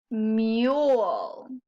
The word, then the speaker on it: mule: say you one more mule m you o the e is silent because it's working together with the u to make a new sound let's look at our